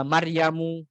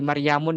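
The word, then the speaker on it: مريمُ: ya di situ ada Utsmanu, ada Salmanu, ada Maryamu, ya, nggak boleh Maryamun, nggak boleh Maryamu. Kemudian Yusufu, nggak boleh Yusufun, nggak boleh. Kalau ada orang ngomong soal-soal pakai bahasa Arab, kemudian dia tanwinkan itu Maryamun, pernah mengatakan gitu, atau Yusufun adalah sosok ya,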